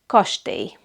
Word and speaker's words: kastély: But it has the Y sound, like in the English word you, and the same sound as the Hungarian letter J. So ellipsilon and J have the same sound, Y.